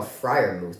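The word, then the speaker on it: Freiermuth: Steelers aren't going anywhere oh Friar move that's actually how you say it I didn't even know that Friar mousse oh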